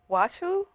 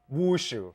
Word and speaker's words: Wushu: because I know I won't be able to pronounce it. Try me. Washu? Wushu.